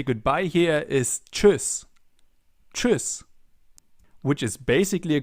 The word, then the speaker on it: Tschüss: And if you want to learn more on German pronunciation, check out my German pronunciation course. Let's listen and repeat. Tschüss. Tschüss.